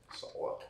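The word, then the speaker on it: Saleh: or however you pronounce it how do you pronounce it Salah Salah all right Robert Salah uh he was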